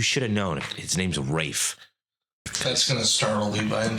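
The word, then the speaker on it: Raffe: His name's Rafe. That's gonna startle Levi in 4 years. Dude, honestly. And that's spelled R-A-F-F-E, by the way.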